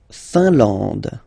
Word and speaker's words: Finlande: La Finlande. IN here, nasal, un. AN, nasal, en. And then D, final not pronounced. La Finlande.